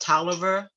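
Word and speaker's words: Taliaferro: here says title ordinary taliban county this is pronounced toliver it's the tallaferro but it is pronounced oliver and on some older documents of people outside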